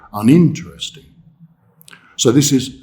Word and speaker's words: uninteresting: Uninteresting, here we have a longer word with several syllables, but in this case, the stressed syllable is in, uninteresting. We don't say uninteresting, and we don't say uninteresting. We say uninteresting.